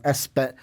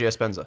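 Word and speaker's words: Epenesa: You've got Chauncey Golson and then AJ, I'm going to say this name wrong, Espenzenza? I said that wrong. Oh, Iowa fans, help me out. AJ Espenza.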